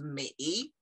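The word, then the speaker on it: 每: Each is pronounced mei. And when you bring heart and each together, it's pronounced hui.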